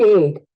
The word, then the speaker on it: ate: Muy bien, vas a pronunciar Eat ate. Ate. eight, Ate. eight. En este caso la A toma un sonido abierto, el cual va a sonar eight.